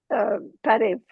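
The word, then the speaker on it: Բարև: refugee, How do you say welcome in Armenian? Parev. Parif? All right. Yeah, it's like kind of like hello, you know. We have to teach all of America to say Parif.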